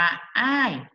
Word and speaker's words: 爱: นี้ มัน อ่าน ว่า อะไร นะ อ่าน ว่า อ้าย อ้าย อ้าย แปล ว่า รัก หรือ ชอบ ใช่